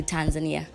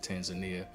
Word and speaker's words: Tanzania: Welcome to Tanzania. Thank you. So I learned yesterday that in the States we pronounce it Tanzania, but here it's called Tanzania.